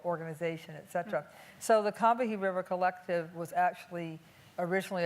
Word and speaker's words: Combahee: It's not Combahee, it's Combahee. And No. yes, it is. As people in South Carolina say it to this day, the Combahee River. But I say, well, we say Combahee because that's how black